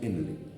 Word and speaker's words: Henle: No es que sea con J ni con G de gato, sino que es con H, Henle. ¿No? Pero uno lo pronuncia como asa de Henle.